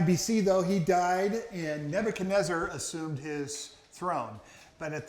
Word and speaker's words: Nebuchadnezzar: In 605 BC, Nebuchadnezzar, everybody say that with me? Nebuchadnezzar, 5 syllables. And that's probably actually pronounced Nebuchadnezzar. Nebuchadnezzar it is.